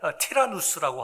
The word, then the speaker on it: 티라누스: 근데 그쪽 지역에 에베소에 두란노라고 하는, 두란노라고 우리 한국식 발음이죠. 조금 비슷하게 발음한다면 티라누스라고 하는 위대한 헬라 선생님이 계셨습니다.